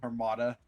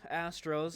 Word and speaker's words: Astros: And Armada. Yeah, I know. I have been saying it wrong the entire season. I'm trying my best. The Andromeda Astros.